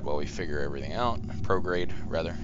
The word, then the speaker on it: prograde: tell this to go prograd while we figure everything out prograde rather sorry I mispronounce it because I read that so often that uh it drops the E okay so that doesn't